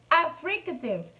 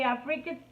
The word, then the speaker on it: affricates: So there is another sound in this manner order that are called affricative, and the affricates. Yes, that's the correct pronunciation.